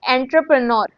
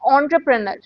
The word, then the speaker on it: entrepreneur: This is not entrepreneur. This is entrepreneur.